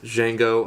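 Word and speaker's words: Django: to see it is jeno Unchained the D is silent starring Jamie Fox and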